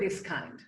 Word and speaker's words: Biskind: Yes, Biskind.